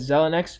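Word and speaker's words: Xilinx: And that's because, first of all, AMD is on track to closing its acquisition with Zelnex. That's how you pronounce it.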